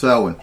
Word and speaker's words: Samhain: So a lot of people say, no, it's Samhain. No, it's pronounced Samhain.